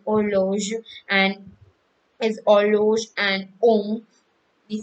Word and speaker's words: homme: and is horloge and om, we say om, and then they are usually not pronounced. And if I have a word om, for example, HOMME, so I will pronounce it as OM, om.